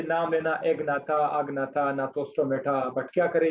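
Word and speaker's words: Gnathostomata: दूसरे super class का नाम था नाथोस्टोमेटा। जी, जी साइलेंट है। नाथोस्टोमेटा, ये सुपर क्लास है।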